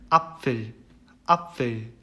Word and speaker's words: Apfel: 굳이 하자면 이제 발음을 들려드리자면은 apfel 이런 발음이에요.